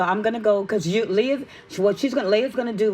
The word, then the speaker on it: Leia: He said, I had to remember her like the Princess Leia. Yeah. Because her name is spelled different. Like, spell your name. Leia. Okay, and it's pronounced Leia, right?